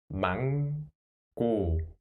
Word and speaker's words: 망고: So, mang. The first syllable sounds like mang. Next, 고. 고. So, 망고.